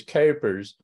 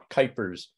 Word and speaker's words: Kuipers: I'm Kuipers um I think Gloria pronounced my name a little bit closer to the way we it's pronounced in the Netherlands which is capers but that's not an English vowel and so my family has pronounced it with a long I Kuipers um for the last